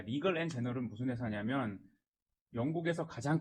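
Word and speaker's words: Legal & General: 자, 그리고 다음 공시 리글 앤 제너럴, 리갈 앤 제너럴 한국 발음으로 하면 자, 리글 앤 제너럴 LGI라고 하는데 여기 잘 안 들어보셨을 것 같은데 이 회사 상당히 큰 회사입니다.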